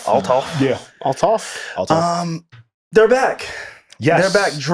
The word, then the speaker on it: Althoff: Althoff? Althoff.